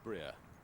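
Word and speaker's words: Brier: I'm afraid I was guilty of calling him Bry yesterday. Being a good Austrian, it's Breer.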